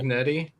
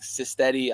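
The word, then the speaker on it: Cignetti: last name from JMU cetti cetti yeah I always want to say like cyti I I don't know why that comes into my head every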